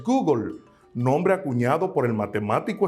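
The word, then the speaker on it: googol: Existe un número que se escribe Gogol y su pronunciación en el inglés es Google, nombre acuñado por el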